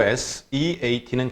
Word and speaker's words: seat: 그리고 S-E-A-T는 길게 발음합니다. seat. 짧게 sit 하면 앉다라는 그 단순한 표현이죠.